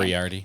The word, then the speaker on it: Moriarty: and it will control the budget of Mary Moriarty. I don't know how to say her name. Moriarty.